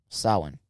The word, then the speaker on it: Samhain: How do you pronounce that word? Samhain. Samhain? Samhain.